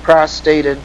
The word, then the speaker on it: prostate: exist for lung, colorectal, prostate, and breast cancer. They spelled that wrong. I said it right. Prostate. Prostrate means laying out flat on the floor. But prostate is what they should have said there.